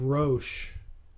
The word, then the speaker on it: Rosh: Some English translations have Gog, Prince of Rosh. Now, the Hebrew word behind this English transliteration really, of Rosh, is in fact the Hebrew word that sounds like Rosh. That's the way it's pronounced.